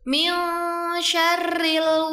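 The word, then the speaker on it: مِن شَرِّ: Pada ayat keempat surah An-Nas terdapat ayat yang berbunyi Min syarril waswasil khannas. Di sini terdapat huruf nun sukun yang bertemu dengan huruf shin, dibaca dengan samar dan disertai dengung 2-3 harokat. Jadi bacanya min syarri.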